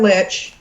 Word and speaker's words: lich: okay yes the HR Lich well usually you say that the person rhymes with glitch oh yeah fair fair